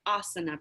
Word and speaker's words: asana: do my best, but asana, I think, is how it's pronounced.